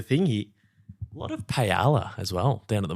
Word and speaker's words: paella: A lot of paella as well down at the markets. Well, if you're going to say it, pronounce it properly, mate. Paella is the way of the Spanish. Silent L's.